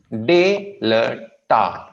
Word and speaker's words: Delta: D as in Delta, Delta, Delta. We have two syllables, Delta. Okay, दो syllables हैं जिस पे focus करना है। Not dal, it's not dal, कुछ नहीं, Delta.